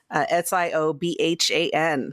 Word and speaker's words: Siobhan: Siobhan, because, that's how it's pronounced. Siobhan. For now. Gaelic is not English.